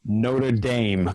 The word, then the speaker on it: Notre Dame: He's 6'7", second rower who plays for, and I have to do this with the American pronunciation, which goes against all of my European heritage, Notre Dame College.